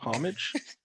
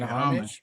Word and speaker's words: homage: Isn't that homage? Homage, Paying homage. Paying homage. What is homage? Can we get a definition? It's that's the same word, but the H is silent.